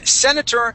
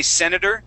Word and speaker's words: senator: guys senor um Senator you can say senator and uh and uh pronounce that t uh in other cases you could say senator um it just it just depends um the senator yeah I I would say in most cases I would say senator and and switch that t to a D sound so a US senator